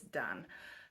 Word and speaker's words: Dain: I was looking up how to say his last name and found out that his first name is actually not pronounced Dain, it's Dain.